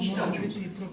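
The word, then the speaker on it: čitat ću: Vous savez, les Croates écrivent chitacicu. Les Serbes, les Bosniens écrivent chitachu, les Croates chitacicu. Ils coupent, mais ils prononcent chitachu. Mais ils n'écrivent pas chitachu.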